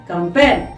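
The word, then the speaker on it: campaign: Election कैंपेन। तो आपने देखा कैंपेन में हमने जी का यूज नहीं किया। कैंपेन में आप जी को साइलेंट रख देते हैं।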